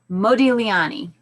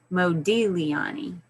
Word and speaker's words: Modigliani: fun to read it's the g is silent so it's like modigliani but there's no g in there so you just say modi liani isn't that awesome isn't